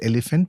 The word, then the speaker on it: Elefant: The elephant, and it's uh the elephant, and it's pronounced uh as elephant, but spelled as e l e f a n t.